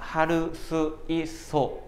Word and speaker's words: 할 수 있어: 一個一個発音しようとしたら、할수있어 になりますので、